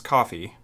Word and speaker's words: Ko-fi: octatrack um on coffee I've been calling it Kofi because that's for whatever reason I'm stupid and that's what I thought it was but it's coffee spelled with a k o dash fi and you can buy